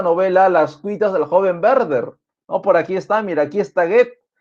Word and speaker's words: Werther: ya no Werther, sino, se escribe así, sí, Werther, pero se lee Werther, ya la W va a sonar como una V en el alemán, Werther.